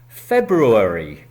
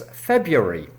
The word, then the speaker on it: February: It is, in fact, so difficult that is has been simplified in English to give a second pronunciation style which is easier - it's F E B U RY , F E B U R Y.